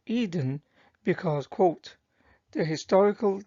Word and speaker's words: Eden: example in Quran 988 the term Eden is pronounced as Aden in the Arabic According to Islamic escot